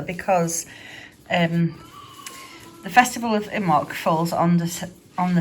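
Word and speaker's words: Imbolc: of fiery colour because um the festival of immok falls on this on the 2nd of february and is pronounced imac it is reflected in christianity as the festival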